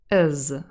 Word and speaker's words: has: in the word has we might also drop the h in has that is possible and then we have an even more reduced form as is my friend is an elephant my friend is an